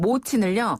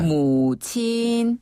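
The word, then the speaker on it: 母亲: 어머니는 모친을요. 네. 무친.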